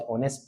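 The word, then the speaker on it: honest: पहला अक्षर स्वर पहला अक्षर व्यंजन सॉरी व्यंजन है। लेकिन उच्चारण में क्या आ रहा है? ओ की आवाज आ रही है। तो यह स्वर की ध्वनि है।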